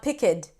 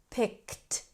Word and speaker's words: picked: And when it's just t and d, we want to connect it to the sound before. For example, picked. Okay? It's not pickid. It's picked.